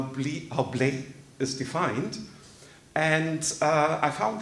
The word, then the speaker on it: blé: And as most of you hopefully know, BLE, the three letters, if you pronounce it in French, blé, it means wheat.